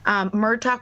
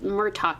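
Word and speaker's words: Murtagh: It's not like Murtaugh. It's like Murtaugh. It's Murtaugh from Lethal Weapon.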